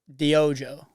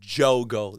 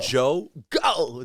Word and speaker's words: Diogo: Do you want to say how they say? So the name Jogo. Imagine Joe go, like Jogo.